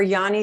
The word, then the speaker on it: yoni: And I've heard them called yoni.